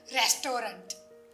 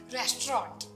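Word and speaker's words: restaurant: में क्या फर्क है रेस्टोरा और रे रेस्टोरा भी ओके है बट प्रॉपर प्रशन इ रेस्टोरेंट ओके रेस्टो इट इ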